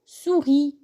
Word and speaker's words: souris: أقرأه souris دون أن أقرأ الحرف الذي باللون الرمادي اللي هو S. Je ne prononce pas la lettre en gris. Donc, souris. Répétez.